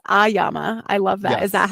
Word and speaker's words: AYAMA: So it's AYAMA. I love that. Is that how Yes. you pronounce it too?